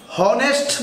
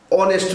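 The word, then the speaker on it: honest: consonant এ হবে, কিন্তু এইচটা যদি আপনার উচ্চারণ না করে, যেমন এখানে দেখেন লেখা আছে ড্যাশ হনেস্ট বলি নাকি এইচ ও এন ই এস টি অনেস্ট বলি, যদি অনেস্ট বলেন তাহলে প্রথম অক্ষর কি উচ্চারণ করেন, ও, এইচটা উচ্চারিত হয় নাই, তাহলে কনসোনেন্ট উচ্চারিত হয়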